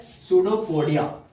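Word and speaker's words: pseudopodia: तो इसको प्रोनाउंसिएशन है पी साइलेंट है, ठीक है। क्या है? पी साइलेंट है और इसको बोला जाता है सूडोपोडिया।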